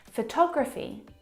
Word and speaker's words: photography: Now, if you look at the second example, photography, you can hear the pronunciation is different. And that's because the second syllable is the stressed syllable in this word photography.